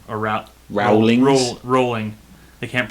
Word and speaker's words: Rowling: how it's spelled yeah but I think it's the W is silent and everyone keeps this